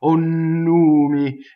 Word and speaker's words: numi: You notice I've written a double N, nNumi. So for the gods, they will get doubled, right? Onumi, and a single M.